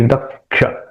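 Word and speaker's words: दक्षः: शुचि दक्ष, यहां पे भी क्ष के पहले क का उच्चारण करना चाहिए।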